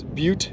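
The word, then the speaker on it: Butte: it's it's it's it's it's beaut not butt it's butt it's pronounced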